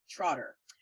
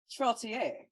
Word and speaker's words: Trottier: It's very easy to miss the I in his name and just want to call him Trotter. But his name is Mr. Ian Hamilton Trottier.